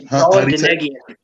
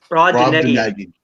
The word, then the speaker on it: Brobdingnagian: It's Brobdingnagian. Brobdingnagian.